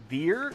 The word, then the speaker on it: Veer: I get call me Veer is it is that is that how I'm supposed to pronounce it it's like it's like here only with a V instead ve what's what's going